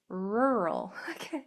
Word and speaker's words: rural: Your word is rural.